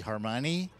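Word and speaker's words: Hermione: me, which is uh pardon my French, but pronounced the Harmoni, which is a French ship named after a woman, Harmoni.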